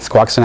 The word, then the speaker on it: Squaxin: Squaxin Island. Squaxin Island and Quileute tribes.